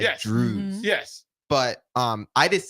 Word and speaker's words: Drozd: The technical, according to my dad, it's Drews.